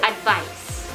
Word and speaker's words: advice: advise is pronounced asi letter c sounding as s so advice advice advice what about